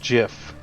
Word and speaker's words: GIF: pronunciation father of gift it's pronounced jiff Steve will hit father